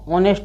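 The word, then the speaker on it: honest: और ये हॉनेस्ट नहीं पढ़ेंगे, हॉनेस्ट नहीं बोलना है, इसको ऑनेस्ट बोलना है, ऑनेस्ट।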